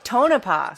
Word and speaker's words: Tonopah: know how to say these Native American names Tonopah Tonopah oh that right that's right the time I